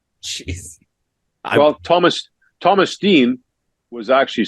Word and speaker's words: Thomas Steen: Well, Thomas Steen was actually Stein in Swedish.